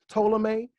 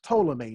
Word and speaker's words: Ptolemy: his name is not Ptolemy. This P is the same P in Pfizer. This P is the same P in pterodactyl. You don't pronounce it. This is Ptolemy, not Ptolemy.